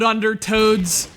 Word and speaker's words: Undertow: shoot Lock and Load under toads emphasis on the second part from the developers who